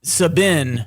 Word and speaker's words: Saban: Number 1's a guy, I think it's pronounced Saban.